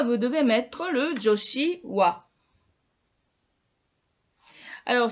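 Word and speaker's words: は: Donc là, dans ce cas, vous devez mettre le joshi wa. Alors c'est le ha qui doit se prononcer wa quand c'est le joshi. C'est wa.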